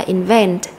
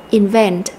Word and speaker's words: invent: được nhấn mạnh và trong động từ đó thì chúng ta lại có âm tiết nhấn mạnh đó là âm tiết số hai chúng ta sẽ đọc là invent invent và các em có